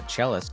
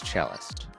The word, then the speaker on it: Cellist: punk chist and uh chist is spelled c l l i s t like cist but it's chist uh make sure you